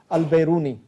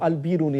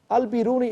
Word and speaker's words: al-Biruni: darby and everybody knows a great scholar called al-beruni or al-biruni as it's correctly pronounced al-biruni in the fourth century talked about these issues